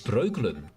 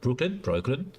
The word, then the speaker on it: Breukelen: Is Breukelen. Oh, of course, it's been Americanized because they can't pronounce the O. But yeah, Breukelen.